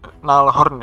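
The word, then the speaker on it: Gnarlhorn: Sebenarnya Nalhorn ya bacanya, juga bagus sih buat sisi, tapi menurut saya dia kurang ini sih, kurang gimana ya, nanggung gitu, nanggung aja menurut saya sih. Buat teman-teman yang pakai Gnalhorn juga mungkin lebih paham, saya kurang paham.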